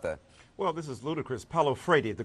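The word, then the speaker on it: Paulo Freire: Michael what about that well this is ludicrous Pao Fredy the correct pronunciation of the Brazilian philosopher uh talked about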